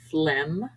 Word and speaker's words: phlegm: science scissors ascend conscious G is occasionally silent after M for example phlegm paradigm G is usually silent